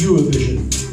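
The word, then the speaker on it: Eurovision: a song contest called AO Vision or they pronounce it euro vision and each country sends a new song that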